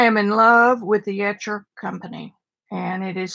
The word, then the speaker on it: Etchr: do today I am in love with the etcher company and it is spelled et ch are they originally came out